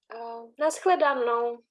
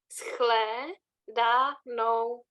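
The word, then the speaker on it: na shledanou: Nashledanou. Do svidano? Nashledanou. Oh, I can't hear very well. Nashledanou.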